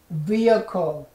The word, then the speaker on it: vehicle: Okay, so this one, okay, not vehicle, okay, not vehicle, but look at vehicle, vehicle, say vehicle, very good, Let me say that again.